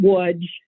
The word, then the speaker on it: Łódź: Is it Lodz? How's it pronounced in Poland? Some people pronounce it Lodz. Some people pronounce it Łódź.